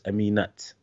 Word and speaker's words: Aminat: sister sister's called her the arabic name is amina but they added t at the end so it's aminat okay so so for